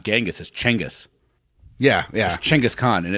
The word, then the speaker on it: Chinggis Khaan: English and I'm like all right did I pronounce it how I've always heard it so that's funny well it's like people say Genghis Khan is not Genghis changose yeah yeah Chinggis Khaan and it's like and I try to I